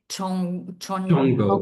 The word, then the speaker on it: CHONGO: How do you pronounce it? Chongo, yeah.